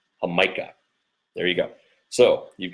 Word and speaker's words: Jamaica: It's spelled Jamaica, but it's pronounced Jamaica.